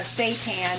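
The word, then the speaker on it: seitan: in this Skillet I'm warming up the uh St tan by the way that is spelled s e i t a n if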